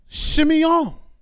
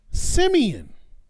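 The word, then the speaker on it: שִׁמְעוֹן: And she called his name Shimeon, or you may know it as Simeon.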